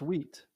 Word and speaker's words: Wheat: on the right side it's not weeks what's his name um it's not sweat it's another like single syllable name ah anyway uh yeah